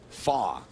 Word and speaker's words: Fach: in front of him pay no attention to the consonant it's pronounced Graham fa he's of German descent Canadian from gelf Ontario